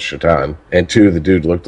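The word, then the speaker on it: Šatan: was miroslav because one his last name was spelled satan but pronounced chaton and two the dude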